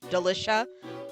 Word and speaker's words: Delicia: So like it's just I think it's it was just Delish Scone in the translation, and it's Delicia rhyming with Felicia.